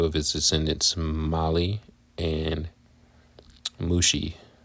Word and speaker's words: Mushi: The clans descended from Merari were named after 2 of his descendants, Mali and Mushi. Rhymes with sushi.